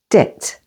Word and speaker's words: debt: B can be silent before a T, as in the words debt. Say debt.